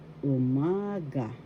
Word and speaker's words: umaga: When you want to say umaga, that means morning. And first syllable u, second syllable ma, third syllable ga. Umaga. The second syllable has the accent umaga.